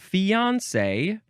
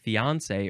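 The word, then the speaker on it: fiancé: okay now we have fiance uh this one is you can emphasize the on fiance or you can emphasize the last syllable fiance what's why do you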